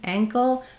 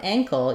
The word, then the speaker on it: ankle: tongue lifting Ang ankle it's more like the same sound as in rang like rang the bell so for ankle you'll see first syllable stress the a vowel the NG sound the C and then the O um dark L here so my video for